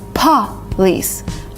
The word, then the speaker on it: police: people say police which is not right it's police police kind of blowing a candle would do